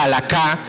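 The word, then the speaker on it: הלכה: Pablo toma la experiencia del pasado, la aplica a los gentiles para que esa palabra hebrea que se pronuncia halakha, que era caminar en la ley, ahorita era caminar, como la teología de Pablo era caminar en Cristo, ¿no?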